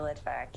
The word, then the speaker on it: Litvack: Litvack. Did I say that right? Dr. Litvack. I knew I could get it right. You said it right, Dr. Litvack.